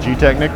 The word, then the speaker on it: GTechniq: Tell me why I want your product, and pronounce the name of the product again. GTechniq Marine.